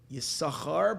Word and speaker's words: Yisachar: Yisachar, but it's spelled Yisaschar.